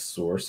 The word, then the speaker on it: src: is the src attribute we just pronounce it as source because that's what it's short for um so what to